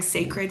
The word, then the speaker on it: Cecred: or testing new brands right now, I'm trying Sacred, which I'm like praying I'm pronouncing that correctly.